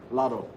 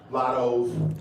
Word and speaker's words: Latto: Lotto. Thank you. How do you do that? How do you say that? Cause Lotto my baby.